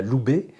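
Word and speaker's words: ube: Alors, parmi les plantes aussi adaptogènes qu'on a citées, il y a l'houbé. Oui, L'houbé, donc oui. ça s'écrit U-B-E.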